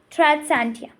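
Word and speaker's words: Tradescantia: What's the pronunciation? Tradsantia.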